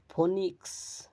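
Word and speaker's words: phoenix: 27 number roll শব্দের শব্দে ই ওই এর উচ্চারণ দীর্ঘই হয় ফনিক্স উদাহরণস্বরূপ ফনিক্স রূপকথার পাখি বিশেষ অমবা এমিবা ক্ষুদ্র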